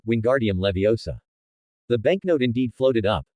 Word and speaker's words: Wingardium Leviosa: You mispronounced the spell's syllables, which is why it only floated less than a foot high. Then, Joel earnestly mimed the wand movement and loudly stated, it should be, Wingardium, Leviosa.